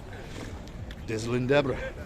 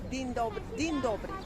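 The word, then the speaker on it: Dzień dobry: Dizzlin Deborah. There we go. Ah, you said Dizzlin Deborah. Dizzlin Dobre. How do you say it? Din Dobre. Okay. Din Dobre.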